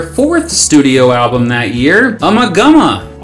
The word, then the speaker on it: Ummagumma: Not wasting any time, the band also recorded their fourth studio album that year, Ummagumma, also maybe pronounced Umaguma, released by Harvest Records on How many albums they have released?